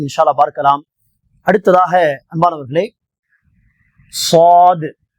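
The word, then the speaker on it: ص: அல்லாஹ் பார்க்கலாம் அடுத்ததாக அன்பானவர்களே சாது சாது இதுவும் வல்லினமாக உச்சரிக்க வேண்டிய ஒரு எழுத்து ஆகவே அதை தடிப்பாக ஹார்டாக சொல்ல வேண்டும் ஓரளவுக்கு சாத் இந்த நாக்கின் நுனி கீழ் பற்களுடைய வேரில் தொட்டு சாது சாது சாதுனரால் சிராத்தல் முஸ்தகீம்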